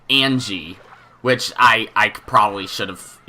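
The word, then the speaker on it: Ange: it's easy to pronounce I was told that Onge is supposed to be pronounced more like an G which I probably should have guessed that I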